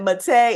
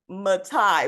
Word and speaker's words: Mate: But I do know that Mate is not Matai, which is what I was saying too for a Okay, little bit until I got it right.